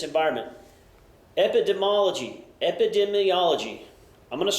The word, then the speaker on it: epidemiology: here we go kids let's try this again epidemology the student of the distribution or should say the study of the distribution of disease or injury within a population and its environment epidemology epidemiology I'm going to say it right one of